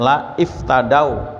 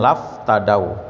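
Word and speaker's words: لا افتدوا: gitu ya ini sebenarnya la iftadau la iftadau ya cuman karena hamzahnya wasal maka bacanya laf tadaw gitu ya karena ini Quran kalau bukan Quran boleh baca la iftadau laftadau ya niscaya mereka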